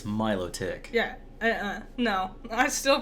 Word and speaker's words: Milotic: You would think it's melodic, because it's beautiful and melodies, right? Yeah. But it's Milotic.